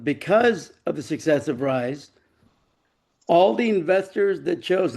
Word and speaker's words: Ryz: So, aside from those two things, I um let's see, the Rise Sports Network, which only started in November of 2024. It's spelled RYZ, but it's pronounced Rise.